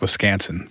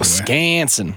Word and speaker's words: Wisconsin: While we're talking pronunciation, it's pronounced Wisconsin, by the way. Wisconsin. Yeah, rhymes with mansion.